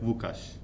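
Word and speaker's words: Łukasz: not yeah Polish language it's l with a cross in the middle so it's not pronounced as L but it's more like kind of that sound so you are more pronounced is like wukash okay yeah I think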